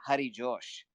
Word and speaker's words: Harry Josh: it sounds pretty American Harry Josh but if you're in India you would say Hari Josh so it sounds like Hari Krishna and it sounds like